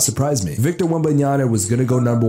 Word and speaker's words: Wembanyama: platform that came out and said this man's name wrong. It is Wembanyama, bro.